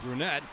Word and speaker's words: Brunette: Andrew Brunette, actually the head coach for the Predators, pronounced Andrew Brunette.